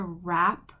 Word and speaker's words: wrap: wheel with this one is wr and it makes we have a w and we have an r and it doesn't make what er it just makes er so all we do is pronounce the r sound the w does not get sounded out but we still have to write it so this one is